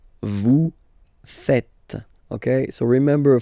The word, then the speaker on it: faites: and tend to say vous faisiez. Okay, but then no. It's vous faites. Vous faites. Okay, so remember, final S here is not pronounced, and then this is not pronounced either.